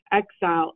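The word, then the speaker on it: Xyzal: a new antihistamine called i'm going to hopefully pronounce this correctly exile x y z a l is that in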